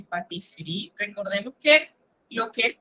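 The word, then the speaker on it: pâtisserie: Patisserie. Recuerden, cuando usted tiene dos S, se pronuncia una S. Pero cuando usted tiene una S, se pronuncia una Z.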